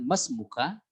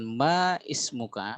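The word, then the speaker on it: ما اسمكَ: Tapi kita bacanya kalau disempurnakan masmuka, ya masmuk. Ya, masmuk. Ya, jadi masmuk. Bukan ma ismuka, masmuk. Ya, jadi cukup dengan masmuka.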